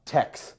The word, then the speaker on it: TeX: the word technology comes from that's why I'm pronouncing IT Tech and not Tech because this is Kai the actual uh purest